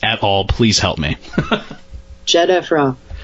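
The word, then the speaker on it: Khafre: happened to the pyramid of jefra I cannot pronounce this at all please help me jefra jefra thank you dr.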